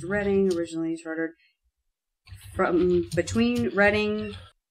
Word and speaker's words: Reading: Pronounced Reading, originally chartered.